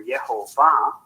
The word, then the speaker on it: Yehovah: Because even in Judaism, Yahweh, or Yehovah, as it is pronounced in Hebrew, he was a pretty mean motherfucker.